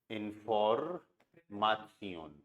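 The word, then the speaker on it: Information: Okay, अब इसके लिए आपको वर्ड पता होना चाहिए, दी इंफॉर्मासियोन, सेम स्पेलिंग है, बस प्रोनाउंसिएशन अलग हो जाएगा। क्या प्रोनाउंसिएशन हो गया, दी इंफॉर्मासियोन।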